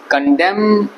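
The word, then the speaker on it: condemn: जो लास्ट में आया कंडम में ए साइलेंट होता है बोलेंगे कंडम नहीं बोलेंगे कंडम म खत्म ठीक उसके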